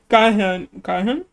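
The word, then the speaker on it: Gahyeon: Kahan.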